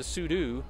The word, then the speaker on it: sudo: because uh we uh that's just I just pronounced it sudoo and uh there I think if you go to the man page somebody just say it's the proper command the proper terminology is pseudo but it's like VI and uh um uh